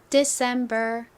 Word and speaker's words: December: 자입니다 de 발음해 볼게요 여기도 중간에 강세가 와요 de december 오케이 적어 보겠습니다 d d